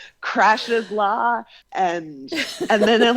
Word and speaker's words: Crashe: remind folks, slipping is Crashe's law. Yes, as if there's, John Crashe. Right, because she doesn't spell it crash like I crashed the car. It's CRASHE''S.